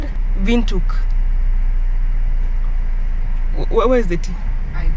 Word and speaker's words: Windhoek: wind Quake yeah we we've been saying wind Quake if you're not from around from South Africa or Namibia I'm sure you pronounce it wrong guess what it's called vuk where is the tea